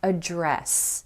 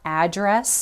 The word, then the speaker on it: address: the business world is address. Address. Careful, this is not address. That's a noun. That's where a house or a building is located. This is address. The emphasis is on that second syllable.